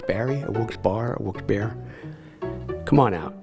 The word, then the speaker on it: Wilkes-Barre: call it Wilkes Barry a Wilkes Barre a Wilkes bear come on out it's a great City it's a beautiful city wilkesbury is the correct pronunciation this guy just informed me for everybody